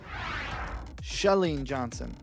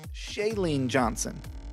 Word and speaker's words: Chalene Johnson: so much no problem thanks for having me shellene Johnson not chalene johnson don't get it twisted she leans husband made